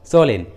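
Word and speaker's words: solemn: है, तब एम साइलेंट रहता है, एम का उच्चारण नहीं करते, जैसे ऑटन, कॉलन, सोलेन।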